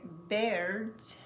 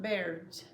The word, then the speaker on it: birds: But because that R is there, they don't say anything. So this is birds eat worms. Skip the O, skip the I, skip the O. Don't even say it at all. If you do, you're going to change the word's pronunciation in a way that people may not understand you. It's birds, not bears.